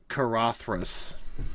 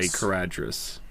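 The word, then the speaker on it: Caradhras: the red horn yeah you pronounce it uh kathas you do not say kadas and their plan is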